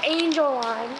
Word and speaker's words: Angeline: And I've got Angeline with me, which is pronounced Angel Line, if you don't know.